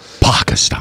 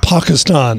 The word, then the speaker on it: Pakistan: with a pastor and pakistan actually is how they pronounce it pakistan pakistan and you know this